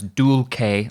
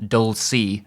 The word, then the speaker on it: dulce: beginning with the title i'm pronouncing it in the italianate fashion that was used in roman catholic churches in owens day dulce at decorum est but you may hear